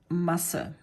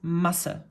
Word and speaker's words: Masse: it's, first of all, it's pronounced differently, you would elongate the vowel that's in front of this S set, whereas this is, you know, pronounced rather shortly.